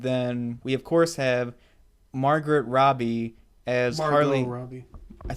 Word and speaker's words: Margot: It's Margot. That's like weird. Why is there a T in there? I hate silent letters.